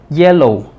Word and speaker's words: yellow: Este apóstrofo, porque no es apóstrofe, es apóstrofo, representa el acento en la primera sílaba, como es ye. Yellow.